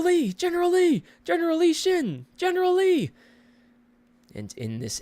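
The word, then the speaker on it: Xin: Like I know the main character's name is Shin, but it's spelled with an X I N, which in the the papers is X I N.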